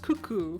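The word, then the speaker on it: coucou: It's is pronounced cuckoo.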